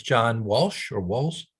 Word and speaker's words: Wolz: It's John Walsh or Walls? Waltz. I'll spell that Walsh.